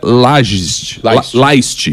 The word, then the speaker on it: Lajst: Professor, eu sempre esqueço, mas o seu nome se pronuncia Laist.